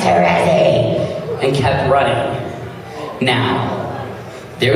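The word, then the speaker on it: Terezi: Teresi, is that correct?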